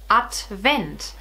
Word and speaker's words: Advent: the day and the word of the day is atvent so it's not really a German word it's more a Latin word and you have this in English as Advent you just pronounce it differently what is advent is